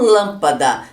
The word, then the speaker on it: lâmpada: Nas palavras proparoxítonas, a sílaba tônica é a antepenúltima, como no exemplo lâmpada. Tem a última sílaba, que é o da, a penúltima sílaba, que é o da, e a antepenúltima, que é o lã, que é acentuada, porque a palavra é proparoxítona.